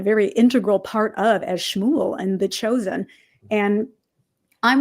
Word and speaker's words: Shmuel: So it's Shmuel. Shmuel. Just think of it like cow goes moo and then L. Shmuel.